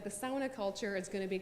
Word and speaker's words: sauna: Finland about the culture so sauna or sauna is the correct way to say it and so the sauna